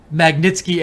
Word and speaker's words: Magnitsky: Let me just make sure I'm getting it pronouncing it right. It is the Magnitsky Act, which is an act the U.S.